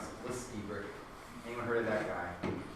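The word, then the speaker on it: Lstiburek: You pronounce it Stiebrick.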